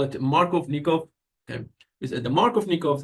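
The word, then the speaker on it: Markovnikov: me double check the it's a Russian name let me double check the pronunciation for it and so it's Mark of yes the pronunciation is going to be Mark of nikov product Mark of nikov product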